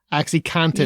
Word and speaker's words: OxyContin: Seriously, I cannot be the only person who thought it was cotton, like the fabric. Most people say it like that. So yeah. They do, but I was like, oh, it's contin.